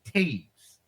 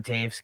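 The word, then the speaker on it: Toews: moving on number two jonathan teiges jonathan taves captain of the chicago black ox correct t-o-e-w-s that is correct there you go two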